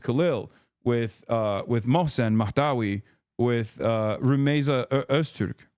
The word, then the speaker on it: Rumeysa Öztürk: administration with Mahmoud Khalil, with Mohsen Mahdawi, with Rumeysa Öztürk, right? Like, they're... Wait, did I say her name? I keep saying her name wrong. Okay, no, I did say it right. Rumeysa Öztürk is the person.